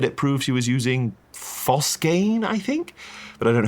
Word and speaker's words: phosgene: And it's pronounced phosgene, not phosgane.